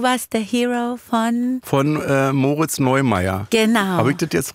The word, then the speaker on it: Moritz Neumeier: Von Moritz Neumeier. Genau. Habe ich das jetzt richtig ausgesprochen? Weil es gibt ja noch den Skifahrer, Neureuther. Da bin ich ganz schlecht. Moritz Neumeier, glaube ich.